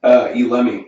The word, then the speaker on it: Elemi: How do you pronounce that? Elemi.